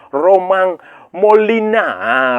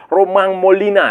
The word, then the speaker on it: Romain Molina: Beberapa hari lalu itu seorang jurnalis investigasi asal Perancis Romain Molina. Romain Molina ya, bacanya Romain Romain tulisannya tapi bacanya Romain Molina itu dia mengeluarkan men-tweet lah di sosial media dia, dia men-tweet.